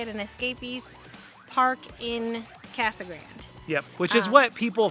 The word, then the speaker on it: Casa Grande: to bring it yes we know it's supposed to be casa grande but everybody calls it casagrand i think it's except for the hispanic community they pronounce it correctly correct i think it